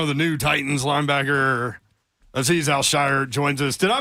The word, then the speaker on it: Azeez Al-Shaair: 49ers website, and they have all the players pronounce their names on the website. Do you have that, Hunk? Here it is. Azeez Al-Shaair, number 51.